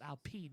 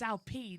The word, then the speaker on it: Alpine: practice starts lewis hamilton isn't it just the french pronunciation of yeah it's alpene isn't it not alpine it's it's confusing it was